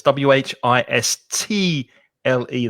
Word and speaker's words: whistle: carlos of whistle it's w h i s t l e there's there's a silent t in whistle eduardo's got a question